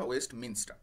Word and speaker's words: Westminster: আপন ওয়েস্টমিনস্টার bridge, মিনিস্টার নয়, খেয়াল রাখবে উচ্চারণটা, ওয়েস্টমিনস্টার।